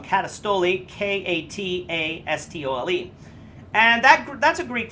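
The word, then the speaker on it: καταστολή: I'll spell that for you if you want. K-O-S-M-I-O-U-S. Katastoli. I said that wrong. Katastoli.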